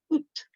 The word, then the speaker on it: août: And then that funny one that's got so many vowels in, but really only one syllable. Août, août.